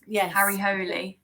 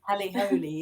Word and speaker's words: Harry Hole: Holy. Maybe that's the pronunciation of Harry. Oh, yes, Hole. I think that's right. Yes. Harry Holy. Harry Holy, yes.